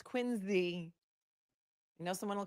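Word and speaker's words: Quincy: I know it's wsta I know it's quinsey I know someone will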